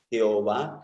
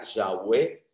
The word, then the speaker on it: Yahweh: mi lengua, hazme saber, Jehová, que la mejor traducción o pronunciación sería Yahweh, mi fin, hazme saber mi fin.